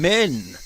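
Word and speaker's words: 綿: Men. Literally men. That's how you pronounce cotton.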